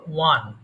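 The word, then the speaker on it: won: আমরা ভুল করে ফেলি most of the Times pronounce ওন বাট ইটস নট ওন ওয়ান ওয়ান টু three four so ওয়ান এরপরে বলে ওয়াইপ মানে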